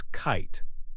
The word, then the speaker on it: kite: Add the magic e and it becomes kite. The i in kite now has a long i sound.